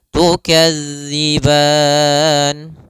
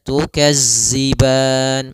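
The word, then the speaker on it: تُكَذِّبَان: tukadziban pada lafal tukadzi sempurnakan daripada makhraj huruf dal jangan sampai terbaca dengan huruf zai misalnya tukazziban. Nah, ini kesalahan yang sering terjadi mengganti huruf dzal dengan huruf zai. Maka latihannya agar tidak terbaca dengan huruf zai itu ujung lidah kita menempel dengan gigi seri atas sehingga terdengar dengan sempurna untuk makhraj daripada makhraj huruf dzal.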